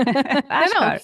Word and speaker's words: Achkar: no, Ashkar.